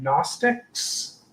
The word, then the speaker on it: Gnostic: captors or even Christian Gnostics. That's Gnostic with a G in the front that you don't pronounce, so on and so forth.